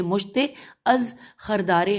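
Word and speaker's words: مشت از خروارے: نمونہ مشت از خردارے، یہاں پہ اس کی ہجے کرتی ہوں، میم پہ پیش ہے میم شین تے بڑی ہے، مشت از خردارے خیرے دال الف رے اور پھر بڑی ہے، مشت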